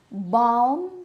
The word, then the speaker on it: bomb: come today palm tree bomb all these words have a silent L so this is the